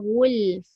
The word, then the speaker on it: غلف: Wa qalu qulubuna ghulf. Fa kena bunyi, jangan qul saja.